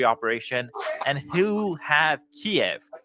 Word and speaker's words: Kiev: and he will have Kev that's how you say it in Russian Kiev in just three days